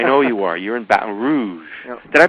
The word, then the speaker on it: Baton Rouge: all that I know you are you're in Baton Rouge did I pronounce that right yeah Baton Rouge Baton Rouge that's how they say it Baton